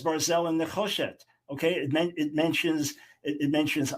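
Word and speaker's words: ברזל: Well, the Hebrew is Barzel. The Hebrew is Barzel. Anyone who knows Hebrew knows it's Barzel. It's not Brazal. It's Barzel.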